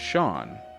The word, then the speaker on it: Seam: Name Seam pronounced Sha or Sha.